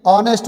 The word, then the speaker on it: honest: हूँ, आई एम एन ऑनेस्ट बॉय। एन ऑनेस्ट, क्योंकि ऑनेस्ट बच्चों एक ऑनेस्ट, HONEST, ऑनेस्ट। यहाँ पे एच साइलेंट है, जब एच साइलेंट है तो ओ से, ठीक है, ओ साउंड है, ऑनेस्ट, ऑनेस्ट आ रहा